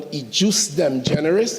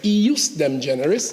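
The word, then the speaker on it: ejusdem generis: with the concept of what some call UC them generous but I've heard it pronounced in the place where I studied as eus them generous Latin as it is and it means when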